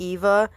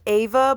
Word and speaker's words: Eva: So, while I'm editing, I'm realizing that throughout the video I'm saying Ava and Eva. It's pronounced Ava, but it's spelled like Eva.